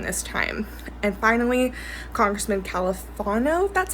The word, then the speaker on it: Califano: hunger strikes during this time and finally congressman califano that's how you pronounce his name finally signed those reforms ending